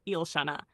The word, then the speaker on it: Yl'Shana: Her soul name is Yl'Shana, pronounced Yl'Shana.